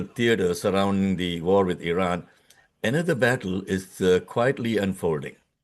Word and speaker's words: Iran: By the way, it is pronounced as Iran, not Iran. Okay? It's like with an E.